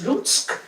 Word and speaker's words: Lutsk: Elle est née à Lutsk, on prononce Lutsk.